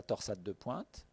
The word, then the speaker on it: torsade de pointes: potentiellement mortelle de la torsade de pointes vous pouvez être fiers dans le langage international anglais c'est le seul mot que tous les cardiologues anglo saxons prononce en français on vous à dire